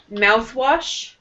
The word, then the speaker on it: mouthwash: Okay, and mouthwash. Mouthwash. Mm-hmm. Mouth is also, so toothpaste and mouthwash, the first part of the word will be stronger. Mouthwash. Mouthwash. Mouthwash. More on mouth, less on wash.